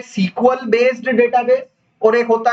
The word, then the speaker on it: SQL: एक होता है सीक्वल बेस्ड डेटाबेस और एक होता है नो सीक्वल बेस्ड डेटाबेस।